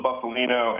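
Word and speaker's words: Bufalino: is it buffalino or buffalino how do you pronounce that name is uh Russell buffalino and it's Billy Dalia Billy Dalia Russell buffalino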